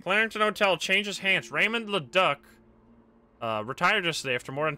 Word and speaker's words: Leduc: Leduc, probably?